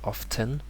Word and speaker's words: often: have often yeah so some people will say it's with a t often but it's very common or a lot more common to hear often and that's the generally correct way and here uh so